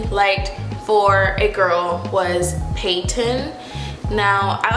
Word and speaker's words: Peyton: I emphasize the P but not the T or the Y. Peyton. No, the T. I don't emphasize the T. I don't really say the T.